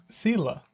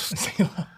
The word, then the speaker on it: Sylla: Are you telling me how you pronounce it again? Sylla. I almost wanted to say Sylla, but it's... Sylla.